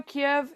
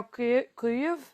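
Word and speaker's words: Kyiv: Like I know Kiev is now Kuv KV. I'm not a Ukrainian speaker yet, but anyway, so I try to respect the pronunciation.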